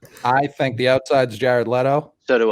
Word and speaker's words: Leto: Let's go Leto and am I pronouncing his name right, Jeff? I swear to God, if I get it wrong. Jared Leto.